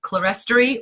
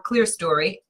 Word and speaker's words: clerestory: For example, there's a word that is pronounced two ways, clerestory or clerestory. I was raised saying clerestory.